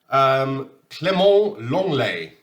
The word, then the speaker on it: Clément Lenglet: Clément Lenglet, as I've been informed, you pronounce it in French.